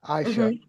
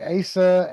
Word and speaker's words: Aisha: And I had to look up how to pronounce her name, Aisha. Hmm. Hmm. It's Turkish. Hmm. But I was saying Asa and Ace and Ice and all of this.